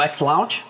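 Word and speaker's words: XLaunch: Vocês iniciam o X-Launch, ou X-Launch, né? Seria a pronúncia correta.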